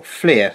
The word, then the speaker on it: FLIR: and off while a FLIR is charging, or FLIR, sorry, that's how you pronounce it, is charging, and stays on continuously when it is fully charged.